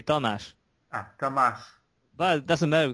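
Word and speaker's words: Tamás: thank you um greetings thas I hope I pronounced your name right well we we we say it slightly differently but don't care about it because it's just we say thash ah thas but doesn't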